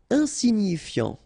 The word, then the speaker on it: insignifiant: Insignifiant. Okay, final T not pronounced, so you've got this IAN, ian, so F before, fiant. Insigni, okay, remember, GNI, ni, insignifiant.